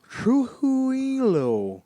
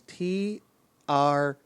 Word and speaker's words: Trujillo: Like, she seems to have a Hispanic name of some sort, and it is Trujillo. There is not a hard consonant to be found in the last two syllables of that word.